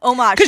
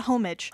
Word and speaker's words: homage: I can't pronounce Ur no homage omage yeah you pronounced it for me earlier so I could remember it omage you learn by reading I learned by reading and it's not homage anyway he pays omage